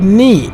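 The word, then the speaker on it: 二: নি মানে উচ্চারণটা হবে নি।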